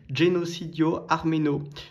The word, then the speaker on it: Genocidio Armeno: Donc là, je vais montrer un petit peu euh alors génocide arménien, voilà comment ça se prononce en italien. Donc c'est Genocidio Armeno.